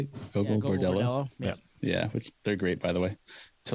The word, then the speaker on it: Gogol Bordello: Gogol Bordello?